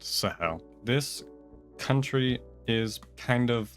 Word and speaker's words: Sahel: Okay, yes, it is pronounced Sahel.